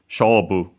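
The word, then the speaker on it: 勝負: for match, contest, game, accented on the first syllable, the first mora, on the shobu, despite being Chinese compound.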